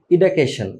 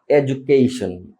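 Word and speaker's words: education: ইডাকেশন আমরা বলি ইডাকেশন বাট ইডাকেশন না বেসিক ফেমাস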